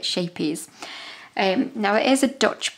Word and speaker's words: Scheepjes: But I have been reliably informed that it is acceptable for us to just pronounce it Scheepjes. Now, if you had the lovely Dutch accent, you would be able to pronounce it properly, but I'm not even going to attempt it, so I am just literally going to call it Scheepjes.